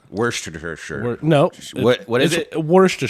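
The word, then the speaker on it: Worcestershire: verses how it's said now it's spelled Worchester Shire but they pronounce Worchester Worster Worster Worster sure no what is worst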